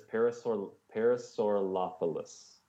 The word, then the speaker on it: Parasaurolophus: It's Parasaurolophus.